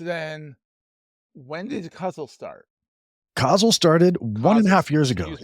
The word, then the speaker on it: Cauzle: Cauzle started 1.5 years ago. Excuse me, Yeah. Cauzle.